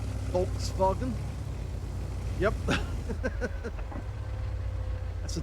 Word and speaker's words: Volkswagen: Because it is basically a W in German, it's a V. Volkswagen.